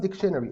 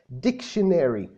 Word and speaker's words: dictionary: احنا قلنا ان هي ما اسمهاش اصلا dictionary، اسمها dictionary.